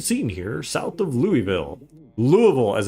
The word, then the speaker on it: Louisville: kentucky a strange scene here south of louisville louisville as it's actually actually pronounced uh roads blocked by military vehicles barriers